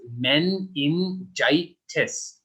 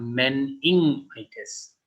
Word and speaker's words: meningitis: This is not meningitis. Meningitis. So it has in it ing, but it is not ing. We do not say it like ing. So it is more like meningitis.